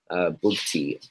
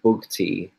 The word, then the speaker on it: Bugti: So it's SHAHZWAR Bugti. Sorry, stop. Say that again and I'll start spelling it. Sorry, go on. Sure. SHAHZWAR surname Bugti, BUGTI.